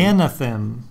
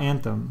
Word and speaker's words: Anathem: Anathem, with an extra A. I mean, I'm pretty sure that's how you say it. I'm not sure. Okay. Yeah, well, it's definitely not Anthem. No. Because that's missing an A.